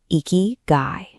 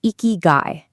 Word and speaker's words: ikigai: They call it eeky guy. It's pronounced eeky guy and it literally translates to a reason for being.